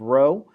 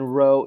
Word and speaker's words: rho: state it with the population parameter of row and again rho is spelled r h o in our particular